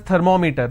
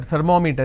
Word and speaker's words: thermometer: We all pronounce this as thermometer. Thermometer. It's not thermometer. It's thermometer, right? Now meter is pronounced as meter. It's thermometer. It's not thermometer, it's thermometer. So I will pronounce, or I will stress here, because meter itself has 2 syllables.